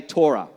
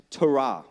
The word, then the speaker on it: Torah: Some people say Torah, okay? It's actually pronounced Torah.